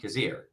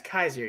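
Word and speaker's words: Kyzir: Kazir. Kaiser. Oh, is it? Yeah, it's Kaiser. You pronounce the Y.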